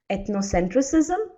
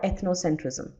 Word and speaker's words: ethnocentrism: ethnocentrism when you were did you pronounce it as ethnocentricism or ethnocentrism second one okay never tried pronouncing absolutely